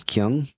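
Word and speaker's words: Kueng: in prison gosh Alex how do you say his last name Kung yeah actually when I I think they they pronounce it King King okay Alex King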